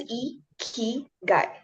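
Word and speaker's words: 生き甲斐: sentences too so let's talk about iigi so ikigai is next slide please iy is pronounced as e guy so it's it's a two word it it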